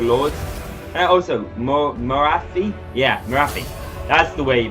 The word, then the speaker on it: Morathi: Yeah, Morathi. That's the way you pronounce it.